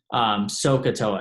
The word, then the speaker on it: SOHCAHTOA: might make if you're angry or something but sohcahtoa and that's just again just to help you